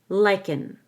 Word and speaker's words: lichen: Lichen, lichen. I hold the K and let out a G.